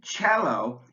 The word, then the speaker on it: cello: an SH Chopin but the C in cello is pronounced like a CH sound cello the TI in sensational